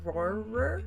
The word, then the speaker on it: Rohrer: of her handle there it's r-o-h-r-e-r Roar that's like trying to say rural or horror horror this is a look